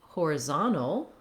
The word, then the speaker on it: horizontal: change to horizontal horizontal we have third syllable stress here on the zom syllable which means our vowels change in the first part of the word we have secondary stress on the first syllable so horizontal now we